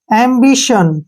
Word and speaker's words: ambition: इसको उच्चारण करते समय हमने बोलना है एम्बिशन। क्या बोलना है? एम्बिशन, क्योंकि TIO का उच्चारण स के रूप में होगा, क्लियर।